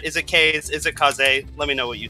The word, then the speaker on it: Kaze: in this game now k-a-z-e to me uh that spells k's so uh i'm probably i'm pretty sure i'm saying it wrong in fact the developers of the game have confirmed that it is supposed to be kaze but go ahead and